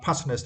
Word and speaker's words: passionate: For next was right, passionate, and for this words we need to stress the first syllable passionate.